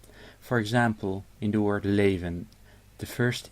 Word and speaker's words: leven: In leven, the L is at the start of the syllable, so it's liquid L. And the V is in between 2 vowels, so it is pronounced as an actual V. The first vowel is long because there's only 1 consonant between this and the next vowel. And the N may be dropped because this word ends with n. So pronounce it leven.